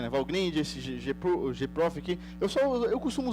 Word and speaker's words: Valgrind: Tipo um perf, o Valgrind, que se pronuncia, né? Valgrind, esse gprof aqui.